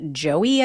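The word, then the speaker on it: Joei: William gallman traveled to D.C with his wife Joey I think is how you say her name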